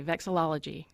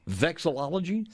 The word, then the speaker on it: vexillology: was a good guy say it with me vexillology vexillology study of flags man you nailed it it